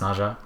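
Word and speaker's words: Nezha: fast by sliding is nja um or NAA it's pronounced Naja I think um somebody corrected me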